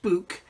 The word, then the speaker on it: Buk: about as I said it's pronounced book and in Russian act